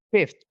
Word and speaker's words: fifth: Kalau kelima itu fifth. Fifth. Jadi ada th fifth. Fifth seperti itu ya.